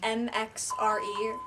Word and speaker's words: MXRE: like my pageant Instagram, and then I have my personal, which is MXRE, like Mare, except the A is an X, and then Delia, which is my last name.